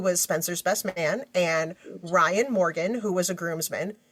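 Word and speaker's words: Rion: Spencer's best man and Ryan Morgan who was a groomsman he spells his name really cool it's r i o n Ryan oh yes you know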